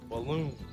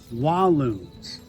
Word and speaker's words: Walloons: It rhymes with balloons. Saloon. No, it starts with a W. Walloons. Walloons, which just means a